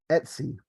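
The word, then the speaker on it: /etc: this one right here SLC or as we can see over here it's commonly pronounced Etsy so here these are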